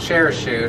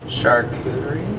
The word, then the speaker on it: charcuterie: we're gonna have a charcuterie board. Is it charcuterie or charcuterie? Share shoot. I think it's charcuterie. It's not share shoot as originally thought. Charcuterie?